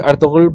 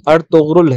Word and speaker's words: ارطغرل: اہم بات یہ کہ اس کے نام کا صحیح تلفظ ارطغرل ہے، جبکہ عام طور پر لوگ ارطغرل کہتے ہیں، اور ڈرامے کی اردو ڈبنگ میں بھی ارطغرل ہی کہا گیا ہے۔ اس ڈرامہ